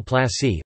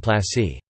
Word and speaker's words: plăși: Plasă, Romanian pronunciation, plas, plural plasi, place, was a territorial division unit of Romania, ranking below county Judei and above commune.